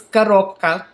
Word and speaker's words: коробка: So it's in Russian is коробка, коробка. So again, the Russian R's are hard, so you have to roll them.